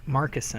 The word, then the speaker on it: Markusin: How do you say Markusin. Markusin?